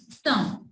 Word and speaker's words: thumb: She twisted her thumb. Again, B is silent over here.